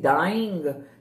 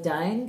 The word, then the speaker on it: dine: We're not saying dying. The word dine, you shorten it. The word dine can rhyme with lion if we pronounce it as dine.